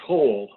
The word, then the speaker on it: Hohl: you pronounce your surname it's pronounced hall oh very good so